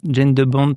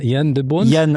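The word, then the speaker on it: Jan de Bont: Yann de Bont. Faut dire Yann.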